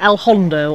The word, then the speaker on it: El Hondo: We're going to go to El Hondo or El Fondo, depending how you want to pronounce it. Well, why is it called El Hondo or El Fondo? Because one's Valencian and one's Spanish.